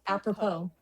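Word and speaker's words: apropos: Appropo. It's spelled A P R O P O S, but it's pronounced appropo.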